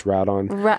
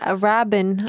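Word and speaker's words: Rabban: So even Dave Bautista's character, who I forget, I think it's Radon. Rabin. I was saying it wrong. Yeah, it's Rabin.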